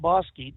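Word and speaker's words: Bosque: no I I live in Edgewood now it's pronounced bosy BOS e right that's correct yes Burnal Lilo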